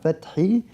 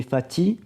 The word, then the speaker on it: Fathi: Et curieusement, il me parlait exactement comme Adel de la lettre Ha, Fathi, qui est devenue Fatih. Oui, ouais. sans prononcer le H.